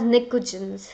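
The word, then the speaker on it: pnictogens: Group 15 element, the nitrogen family is known as nicogens. The spelling may N and T, P and T is silent.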